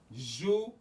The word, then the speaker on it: Jouvert: It's pronounced Juve.